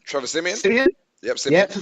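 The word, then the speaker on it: Siemian: Simeon?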